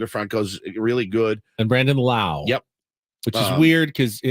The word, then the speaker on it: Lowe: really good and Brandon Lau yep which is weird because everyone else pronounces it low but he pronounces it Lao couple X Padres on